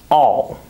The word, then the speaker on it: I'll: the word by itself, I would probably say I'll. Notice how I pronounce the full I sound. However, that's not the way I would pronounce this contraction when I'm speaking normally. When I'm speaking normally, I would pronounce it as all. Listen one more time. All. Notice that I don't use an I sound, I use an ah sound. I pronounce it the same way that I pronounce the word A-L-L, all.